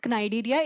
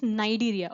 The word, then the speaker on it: Cnidaria: Here it is also called Cnidaria, but C is silent here. So it is not Cnidaria, it is Cnidaria.